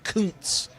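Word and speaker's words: Kuntz: It's Rusty Counz is as it's pronounced, but you can imagine the jokes that go around for Mr.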